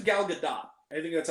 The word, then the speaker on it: Gal Gadot: I think it's Gal Gadot. I think that's how she Gal pronounced Gadot.